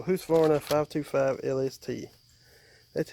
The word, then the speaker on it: Husqvarna: ladies how you fix I know people don't like me saying who's Florida but this way it's pronounced so who's for a five to five LST